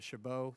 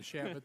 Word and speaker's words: Chabot: to thank you for upgrading the pronunciation of my name to shabbo sounds much more distinguished than shabot the way we say it so very very good um which is the French pronunciation so you obviously did